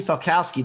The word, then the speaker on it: Falkowski: with a special guest from keller williams ashley falkowski did i pronounce that right you sure did good job